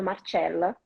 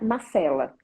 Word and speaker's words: Marcela: Então, pode acontecer que muitas vezes eles me chamam Marcella. Eu corrijo, nem pode ser o meu nome se pronuncia Marcela, né?